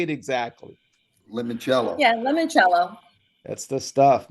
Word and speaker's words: limoncello: Limoncello.